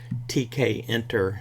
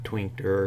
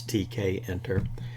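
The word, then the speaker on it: Tkinter: to talk about a module that is named TK enter is how you pronounce that some people say kinter or twinker or something like that but it's based on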